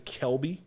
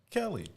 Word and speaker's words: Kelby: be I'm real adamant my name is Kelby and I grew up being called everything but Kelby so I try to always pronounce people's names right Kelly Kevin like you didn't even try like kervin Kevin like like yo you